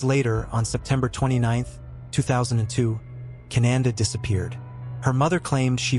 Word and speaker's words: Kynande: Her name was Cananda, pronounced Kiche.